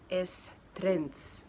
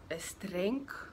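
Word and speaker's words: Es Trenc: Estrens heißt der Strand. Ich glaube, ich habe es aber falsch ausgesprochen. Es heißt eigentlich Estrenc, sowas.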